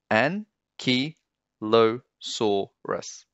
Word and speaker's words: Ankylosaurus: So five syllables, an-ky-lo-saur-us. Ankylosaurus, when you say it fast.